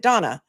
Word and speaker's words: Dana: I mean, it's spelled Dana, but she pronounces it Donna.